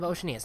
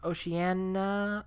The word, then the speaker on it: Oceania: bit about this group I've heard it pronounced Oceania Oceania Oh Shania it doesn't really matter as long as you know what we're talking about there were nomadic foragers of